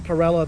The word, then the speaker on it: Parella: Montessori teaching tool for the saying of my name, Cory Parella, the storyteller. Taken directly from Donna Rosanna Donna on Saturday Night Live. It's to force you to say the name correctly. So if you say it's storyteller, you're mispronouncing it.